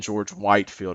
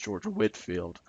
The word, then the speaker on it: Whitefield: Methodist movement and then George Whitefield or sometimes George Whitfield either how you pronounce his name but George Whitefield as